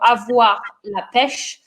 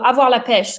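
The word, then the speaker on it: avoir la pêche: is coming from uh so again little pronunciation so avoir lapesh um so on this one two origins actually uh so ava lapesh so means to have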